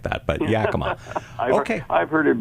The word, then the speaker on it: Yakima: How do you pronounce that city? I always forget. That's why I didn't say the name of the city. It's Yakima. Yakima. Okay.